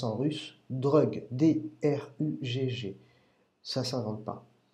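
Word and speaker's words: ДРУГГ: de l'enseignement de Grégory Grabovoi, et qui se prononce en russe DRUGG, D-R-U-G-G.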